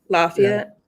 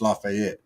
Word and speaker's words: Lafayette: you say it laat they call it lafay in Georgia the southern draw you know lafay I gotta go down often so I can uh study yes I don't care who in down there lives in that town wants to call it lafayet they're wrong it's lafette but you know else